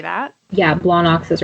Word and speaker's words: Blawnox: Yeah, you gotta say it like you have a beer gut and just got done watching football and just be like, Blawnox.